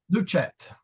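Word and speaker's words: lucet: luch l lcet luch luchette l the C is a k sounds like a k no CH luchette luchette that's right not a lat right say luchette soft Seas before ease got it so yeah uh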